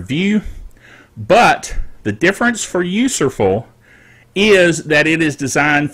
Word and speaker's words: Userful: the topic of userful now it sounds like a mispronouncing useful but that is the name of the organization of the company that makes this software and also the name of the software user full it's useful for users it's useful all right